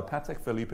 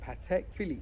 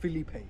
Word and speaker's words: Patek Philippe: in Venice about a Patek Philippe Watch okay let's talk about the first thing here it's pronounced Patek Philly not Felipe I'm not gonna finish